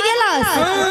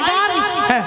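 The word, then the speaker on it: girls: যাও সেখানেই বলে হাই গ্লাস মাসি ওটা কি কাজের গ্লাস নিয়া শোনো মাসি হাই গ্লাস বলে না বলে high গার্লস high গার্ল গার্ল নয় বলো গার্লস একটা কথা উচ্চারণ করতে হবে গার্লস গার্লস দাদু কি বুঝাচ্ছে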